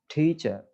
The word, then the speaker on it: teacher: takes the stress okay teacher teacher we are giving the stress on the first syllable right and adjectives also